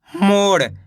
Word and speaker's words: मोड़: मोड़ कैसे पढ़ेंगे मोड़। अब देखो यहाँ पे डा के नीचे बिंदी लग गई तो अड़ा पढ़ेंगे मोड़।